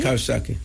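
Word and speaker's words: Coxsackie: And then C O X S A C K I E. Kosaki.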